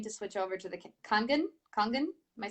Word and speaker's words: Kangen: Am I pronouncing it correctly? Kangen?